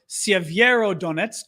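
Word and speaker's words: Siverskyi Donets: handy dandy t-shirt map so several donuts are saviero donets to pronounce it the correct way which is not so easy in english this town over here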